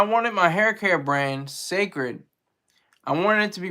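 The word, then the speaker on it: Cécred: But she has she has another brand called Sacred. It's pronounced C-E with the accent mark, C-R-E-D, the hair care brand.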